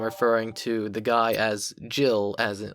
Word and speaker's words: Jill: good, about it, and he's like, no, it's Gil, or whatever. It's like, no, it's clearly fucking Jill.